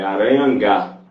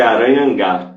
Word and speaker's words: Aranhangá: A pronúncia é Aranhangá, que é um nome em tupi, tá? Mas aí se escreve Aranha, NGA, tudo junto. Então escreve como se fosse aranha, normal, aranha, NGA. Aí a E eu pronúncia é vou aranha.